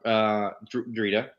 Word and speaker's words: Drita: You have Drita. That's how you pronounce her name. Drita, the Imperial Inspector.